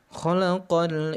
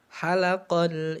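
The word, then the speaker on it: خَلَقَ: Harusnya dibaca kha, ini kita bacanya ha. Khalaqa itu telah menciptakan, sedangkan halaqo itu artinya mencukur ya.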